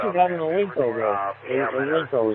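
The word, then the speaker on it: Ailunce: Olinco is how it's pronounced, I believe.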